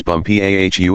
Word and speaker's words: Bumpo: She became his chief wife and is now known out there as the Crown Princess Bumpau. Accent the last syllable.